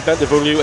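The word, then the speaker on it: Bentivoglio: Martin Burridge, there's the G in Bentavoglio is silent.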